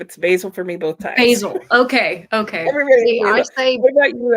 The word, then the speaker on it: Basil: you say it Alex I said it basil because that's the British pronunciation and well I mean